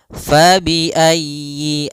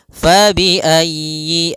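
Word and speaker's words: فبأي: pada lafal fabiayyi ala di sini usahakan huruf ya-nya ditekan fabiayyi alala faiayyi ayyi kemudian yinya pendek jangan dipanjang jangan Yi A tapi langsung saja fabiayyi ala Kemudian pada lafal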